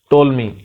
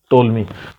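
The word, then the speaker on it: Ptolemy: The Greek scholar टोलमी, ठीक है, P silent है यहाँ पे, याद रखना टोलमी।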